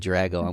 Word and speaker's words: Drago: drago caitlin what's up i just said your name wrong no that was fine dicey drago i said drago did you say drago yeah it's fantastic what's